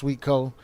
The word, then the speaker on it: swtko.art: all for that it's swtko dot dot art that's pronounced sweetco combination of my wife and I's last name and uh yeah just